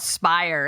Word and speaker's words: Spyre: Theirs is called Spire, and it says, which sounds more like a high-end crime organization than an NIL collective. I thought that was funny. It really does. It's spelled like Spyre.